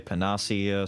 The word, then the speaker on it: panacea: talking about this right I say Panacea I know others say panasia some say panace some just say panace I just hard to pronounce every